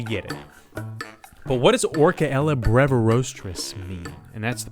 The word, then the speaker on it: Orcaella: Yeah, it's a hard C. Orcaella.